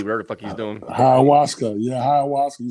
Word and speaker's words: ayahuasca: Ayahuasca weed, whatever the fuck he's doing. Ayahuasca.